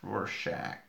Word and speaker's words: Rorschach: all right cool let's see yep yep yep Rorschach that's how you say it cool yes and